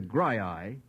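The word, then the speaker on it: Graeae: spectacles for Polyphemus, the Grii, and Argus all together? Polyphemus, the Grii. Grii is spelled G-R-A-E-A-E.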